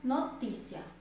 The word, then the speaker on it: notícia: Vamos para a palavra notícia. Notícia. A sílaba mais forte é a antepenúltima. É a penúltima sílaba. Notícia, a penúltima sílaba é a sílaba mais forte. Então, é o ti.